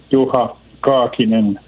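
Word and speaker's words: Juha Kaakinen: How we pronounce it in Finnish is Juha Kakinen.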